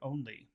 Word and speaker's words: only: only which which word which syllable has all the power in the word only is it first only only only okay so this sounds